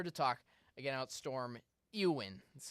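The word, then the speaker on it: Éowyn: but we're here to talk again about storm uin that's how it's pronounced they don't they name their storms that's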